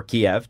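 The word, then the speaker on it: Kyiv: He was born in Lagos, spent years of his youth in Kiev, or Kiev, depending upon how you pronounce it.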